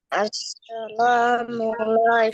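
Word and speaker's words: السلام عليكم: আসসালামু আলাইকুম।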